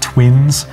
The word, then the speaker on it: 7VV1N5: so um you're welcome uh it's it's pronounced twins um i'm aware there's a project called lost